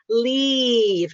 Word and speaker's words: leave: think about that is the long sound takes longer. Use a longer time to pronounce leave. And then live, you just say faster. Live. Live. Don't do live, just live. Do it faster. And then it'll be easier to tell the difference.